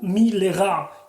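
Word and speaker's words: מלרע: Les fichar, c'est pour cela, hein, ta'amu milera. Il faut le lire milera en mettant l'accent tonique sur la dernière syllabe, parce que les milera doivent être toujours lus avec l'accent tonique sur la dernière syllabe.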